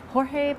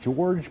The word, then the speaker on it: Jorge: Perez, and he's called George by most people in this country, but he actually is Jorge, you're right, that was a good pronunciation.